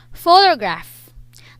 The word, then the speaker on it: photograph: back to these words photograph the syllable or the stress is on the first syllable photographer the stress is